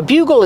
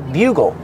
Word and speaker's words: bugle: butt it's called a bugle they played in the military bugle use the short u like unicorn and uniform bu bugle bugle this is a bugle